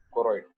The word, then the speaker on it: choroid: कोरोइड। Spelling बोले तो भी CHOROID, ठीक है, CHOROID, कोरोइड, you know it, ठीक है।